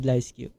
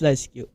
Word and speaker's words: LiSyQ: Yes, it's called LISQ. And I know there are some many instances that kind of, some variations of how they pronounce the name, but it's this is I bet this is the safest way to to say this. So it's LISQ.